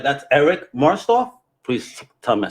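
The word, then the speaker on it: Martsolf: behind the voice of keith right that's eric marstoff please tell me i said it right oh yeah eric mart's off great guy this is a guy who is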